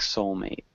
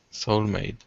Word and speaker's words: soul mate: this soul mate ok mate is one of those words that you kind of you swallow that T sound at the end so it sounds like soul mate soul mate good better sounds good